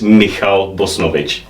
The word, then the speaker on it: Michal Bosnovich: Right, the proper pronunciation of my name is Michal Bosnovich. Yes. But I've gone by Mike for years now because CNH, which in Czech is H, is very difficult to pronounce in English.